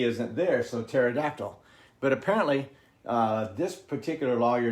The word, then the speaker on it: pterodactyl: you've seen pterodactyl written it's written with a a silent p i don't know why